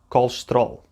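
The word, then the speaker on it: colesterol: unstressed syllables were shortened the word has four syllables called loose to it all but we really only hear two called stroll and i picked this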